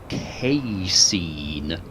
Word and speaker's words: casein: fielding without the cap i was wrong by the way in both my attempted pronunciations of that particular whatever chemical compound whatever it is cake casein apparently you're supposed to say it the things you learn